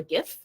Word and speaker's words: GIF: and turn them into a gif or a gif depending on how you'd like to pronounce it so there are a